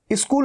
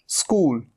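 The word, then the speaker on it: school: ये क्या है, कई स्टूडेंट्स गलती करते हैं, ई लगा देते हैं, ई। स्कूल नहीं, स्कूल, स से ही शुरू होगा, स्कूल।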